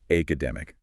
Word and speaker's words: academic: With academic, a common mistake is stressing the first syllable academic or maybe the last academic IC.